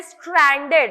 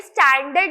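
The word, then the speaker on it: stranded: Next word है स्ट्रैंडेड। अब ये स्टैंडर्ड नहीं है, स्ट्रैंडेड है, आर है, याद रखना इस वर्ड में आर है।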